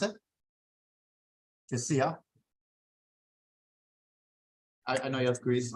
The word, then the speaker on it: Josiah: How do you pronounce it? Josiah.